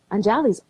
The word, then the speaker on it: Anjali: people call me and it's anjali anjali yes can i say it right yes you said it right you said and i'm